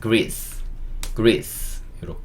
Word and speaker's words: Greece: "Gree" 와 "c" 는 "s" 발음 이고 , 마지막 "e" 는 묵음 입니다 . "Greece" 와 "Greece" 는 그냥 "Greece" 라고 하면 되고 , 한국어 "Greece" 와 영어 "Greece" 는 거의 같습니다 .